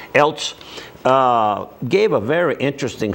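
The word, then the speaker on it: Eilts: he's a project engineer Ted how you pronounce that Els how they say it e i l TS Els uh gave a very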